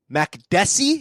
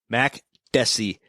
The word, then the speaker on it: Makdessi: Francisco Reynaldo against John Makdessi is that right you did say it right boom Mack deci beautiful you know what